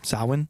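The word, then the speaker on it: Samhain: i agree with that sauhan sauhan sawin it's spelled s-a-m-h-a-i-n sawing are you gonna explain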